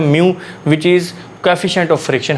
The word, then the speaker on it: μ: इसमें हमारे पास स्टेटमेंट है, इफ़ F इज़ a magnitude of friction, R is normal reaction and म्यू, ये symbol इसको म्यू प्रोनाउंस करते हैं, म्यू इज़ the coefficient of friction.